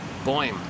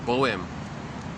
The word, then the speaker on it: Boym: I'm assuming that's how you pronounce it. B like boy, like B-O-Y. Like imagine boy and then put an M at the end. Boym. Or is it Boem? Is it one syllable or two syllables?